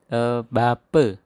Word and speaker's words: bapa: Ingat kalau A di belakang dibaca E ya. Misalnya ini kace dari kata kaca. Ini mata bacanya mate. Bapa dibaca bape. Kemudian apa kita ucapkan ape.